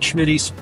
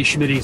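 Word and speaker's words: Smitty: want my opinion um I like Schmitty and I say Schmitty it's Schmitty SMI TTY um I like them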